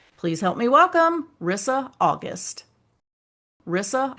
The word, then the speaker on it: Risa: Well, my name is Rissa, but it's spelled with one S, and that always messes people up.